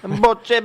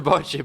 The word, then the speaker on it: bocce: I'm Italian, so it's bocce. Oh my god. Bocce ball. It's a bocce ball. It's not bocce. Is there Stupid another? Americans. Okay, all right. We'll throw bocce ball in there.